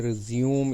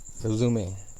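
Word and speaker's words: résumé: तो हम कहते हैं रिज्यूम इट, रिज्यूमे। मोस्टली हम इस लफ्ज़ को गलत प्रोनाउंस करते हैं, हम इसको रिज्यूम के साथ कंफ्यूज कर देते हैं।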